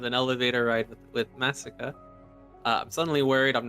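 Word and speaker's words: Masika: it no so it's it's like Massacre but not pronouncing the r m a s i k a a massacre massacre I mean that sounds like you're saying it the right way it sounds like you're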